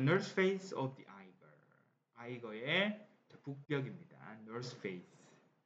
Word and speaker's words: Eiger: 아이거의 북벽입니다. North Face. 자, 처음부터 한번 가보죠. The Eiger is a mountain in Switzerland. 스위치런드 어딥니까? 스위스 있죠. 오케이. 스위스에 있는 산 이름이 아이거입니다. 아이거. 독일어 발음이었어요.